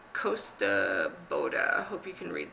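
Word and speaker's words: Kosta Boda: So on another YouTuber that I watch has been talking about glass called Costa Boda, and it's spelled Kostaboda, and it is Swedish, in the Swedish glass.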